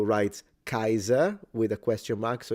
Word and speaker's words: Kaiser: So I believe in German it's pronounced Kaiser, while in classical Latin it would be Caesar. And the difference would be that the S is a S and the R is fully trilled.